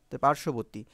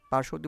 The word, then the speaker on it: পার্শ্ববর্তী: বটার উচ্চারণ হলো না পার্শ্ববর্তী বানানে তালবস রেফ আছে সেজন্য এই বটার উচ্চারণ হলো না এ ছয় নাম্বার নিয়মে